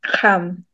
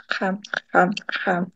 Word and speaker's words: Kxam: But the way you pronounce it is Xam. So the click starts at the front of your mouth, but then it ends at the back. Xam.